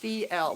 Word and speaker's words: fjell: My fjord horse's name is Fjell, Norwegian for rock or mountain. Pronounced Fjell.